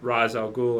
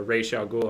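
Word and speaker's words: Ra's al Ghul: to pronounce it um depending on you know Dark Knight they say RZ you know most other things they say re r r re a um so it's it's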